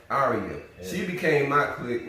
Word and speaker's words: Arya: Arya.